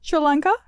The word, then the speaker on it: Sri Lanka: Sri Lanka.